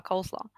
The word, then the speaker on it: coleslaw: reminds you of coleslaw coleslaw if you say it like this it's a food it's it's a type of uh appetizer coleslaw it's not cool like it's cold that's why that's the folk etymology it's coleslaw coleslaw salad